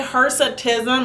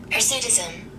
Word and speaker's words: hirsutism: watched so many youtube videos people say hesitism hersetism i say hersetism is spelled h-i-r-s-u-t-i-s-m so